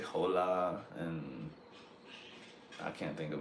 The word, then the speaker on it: hola: hes so they say hola and I can't think of another word but whatever they see a h and they say a h instead of leaving it silent but the biggest problem